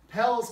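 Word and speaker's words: Peleș: one for me jimmy pell's castle so um um or they say pale i i say it the american way um you know dad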